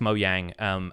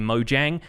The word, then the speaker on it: Mojang: pretty sure that they confirmed that the canonical pronunciation is actually Mojang and they just say it mo yang because they're Swedish but it's supposed to be Mojang according to Mark Watson who is on that video